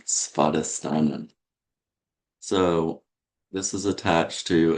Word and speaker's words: Svadhisthana: So you want to pronounce the Svadhisthana. Svadhisthana.